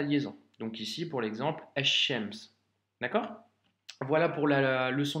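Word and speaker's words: الشمس: Et donc, par conséquent, ici, ça se lit ash-shams. Tu vois? Le alif lem s'écrit, mais par contre nous faisons la liaison car il y a une shedda.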